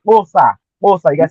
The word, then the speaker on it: Xhosa: Sir, You the will not Kosa find or the anything on Kos, the coastal pronounce language it right. looking it up with Say a K. you gotta say Kosa.